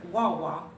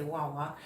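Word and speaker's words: guagua: and that is or wawa you don't pronounce the g it's g-u-a-g-u-a and you just say wawa and that is um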